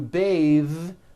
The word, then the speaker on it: bathe: smooth bathe the word bath is a noun with an unvoiced th bath but when you change it into a verb to bathe the vowel changes to an a sound and the th is voiced bathe like in bathing suit breathe same thing breath